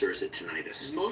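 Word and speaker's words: tinnitus: pronounced or is it tonitis? Most people say tenitis. Okay, emphasizing the itis, the inflammatory part of it.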